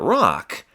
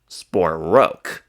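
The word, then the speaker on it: Rocque: here when it says he pronounced it rock that just simply means that sport himself refers to his own last name as rock whereas other people refer to it as sporro.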